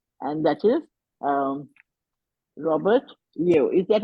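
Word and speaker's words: Yeo: us about him and that is um Robert yo is that how you pronounce it is it here yes absolutely correct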